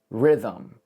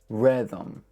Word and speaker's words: rhythm: I would write it R-E-T-H-U-M. Rhythm.